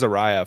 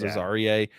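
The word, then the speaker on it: Azareye: butchered uh is it is it not Azariah or is it Aarier? It's it's Aarier. Okay. So I butchered that name. I said Aariah for a long time but it came out at the senior bowl that it was Aarier.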